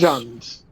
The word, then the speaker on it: Jund: Jund. Jund. Jund. Jund. No, no S, just Jund.